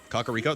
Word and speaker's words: Kakariko: Cockaro. That's how it's pronounced.